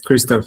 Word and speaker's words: Christoph: All right fantastic I've got some questions for you too Mr. Is that how you say it mate? Yes Christoph is fine.